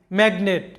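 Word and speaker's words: magnet: এখানে একটা সিলেবলে জি আছে, আরেকটা সিলেবলে এন আছে, তাই এই শব্দে জি এর উচ্চারণ হবে ম্যাগনেট, যেটার বাংলা অর্থটা হচ্ছে চুম্বক।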